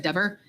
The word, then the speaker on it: Dever: He said Dever.